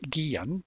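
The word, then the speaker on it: Guillén: for those out there and Spanish surname that would be pronounced Guillen but uh who who's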